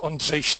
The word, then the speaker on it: Ondrej: name is Andre it is Andre in the original pronouncing but I know that